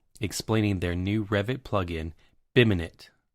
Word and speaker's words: BIMinit: expert, Robert Wygant, explaining their new Revit plugin, BIMinit, pronounced BIM in it.